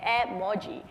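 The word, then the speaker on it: 絵文字: emotion because it's emotion icon Emoji the actual pronunciation in Japanese supposed to be Emoji it's three kanji character which is a Japanese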